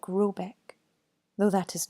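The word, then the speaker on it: Råbäck: hair guard in question is to be called Rybak pronounced something like Rubik though that is not it's me it is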